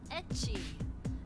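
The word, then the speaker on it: ecchi: strong as hentai so Japanese pronunciation of the letter H the first letter in the word hentai okay so like soft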